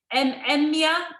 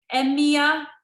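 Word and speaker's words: Emyr: Emia. Oh, I'm saying it wrong again. Emia, E-M-Y-R. Yes, it's a Welsh name, it is.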